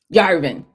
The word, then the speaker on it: Yarvin: Yarvin. Y A R V I N. Okay, Curtis Yarvin.